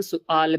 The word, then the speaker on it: سوال: اور سوال کا ایک دوسرا تلفظ یعنی پروننسیشن سؤال بھی ہے.